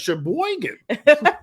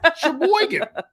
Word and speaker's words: Sheboygan: Isn't it Sheboygan? Sheboygan.